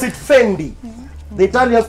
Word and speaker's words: Fendi: The Italians pronounce it Fendi.